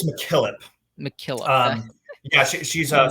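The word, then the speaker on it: MacKillop: right I believe it's McKillip mckp um yeah she's a Scottish in rout and and it's um usually it's Mack is how it goes yeah that makes sense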